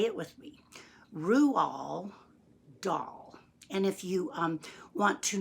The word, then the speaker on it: Roald Dahl: saying it wrong because it's a Norwegian name and you actually pronounce his name rule doll that's right rule doll say it with me Roux all doll and if you want